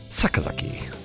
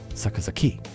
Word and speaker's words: Sakazaki: goes again yes uh sakazaki sakazaki sakazaki yes sakazaki sir wait suck is a key second is a key yeah that would be a stupid way to pronounce it yes yuya sakazaki this fantail